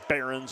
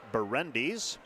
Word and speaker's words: Berendes: for the personal foul my apologies said Barons earlier I checked by pronunciation guide It's berendes and Jake carens first free